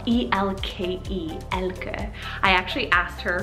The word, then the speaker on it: Elke: Next is the name Elke, spelled E-L-K-E, Elke. I actually asked her for the pronunciation for this one because I wasn't too sure and I wanted to get it right.